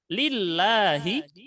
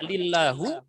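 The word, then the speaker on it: لِلَّهِ: Lillahi taala. Nah, dibacanya tidak lillahu atau lillaha, tetapi lillahi. Kenapa? Karena lam di sini huruf yang menyebabkan kasrah.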